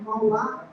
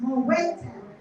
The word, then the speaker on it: Moe Town: And I was saying it, Moa. And then they were like, where is Moe? And I realized, oh, okay, it's Moe Town.